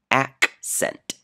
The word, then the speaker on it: accent: The first C is hard because the next letter is a C. The second C is a soft C because the next letter is E. Accent.